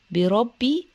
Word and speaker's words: بربي: اعوذ اعوذ اعوذ بربي بربي الباء مكسوره ومشدده عن نطقها